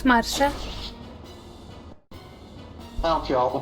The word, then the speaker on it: Marcia: Also, it's really funny, does Kenneth have the full guard, or is that Marcia that has it? It's Marsha. I don't care, I'll pronounce her name whatever I want.